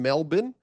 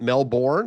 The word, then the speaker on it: Melbourne: I know you live in Melbourne and I pronounced it not Melbourne.